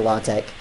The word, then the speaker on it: LaTeX: I actually asked about this, and apparently you can pronounce it either way, LaTeX or LaTeX.